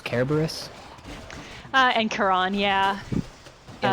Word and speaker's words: Cerberus: Sometimes like, isn't Cerberus Kerberos?